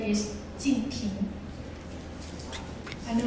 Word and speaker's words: Jinping: It's very difficult to pronounce for foreigners. So his first name is Jinping.